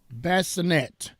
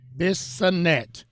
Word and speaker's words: Bissonnet: For Noel Bassinet. Did I pronounce that correct, Amuela? No. Amuela tried to help me. Bissonnet.